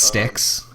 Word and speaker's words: STX: want cool string so it's it's pronounced sticks just so you know if you ever meet anyone from STX sidewall that I tried